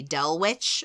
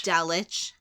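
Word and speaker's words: Dulwich: know this one uh I would say d witch but I know that that's going to be wrong because it's very because British people hate a w except apparently in Scotland so I'm going to say dich Del DWI do not say it's D my God I almost you it's D it's dich okay it's D is there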